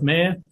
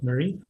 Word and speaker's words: Marie: work with horses so people often assume it is Mayer but it is Marie and I eventually sto